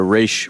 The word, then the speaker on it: Ra's: Of course, they're giving the race pronunciation.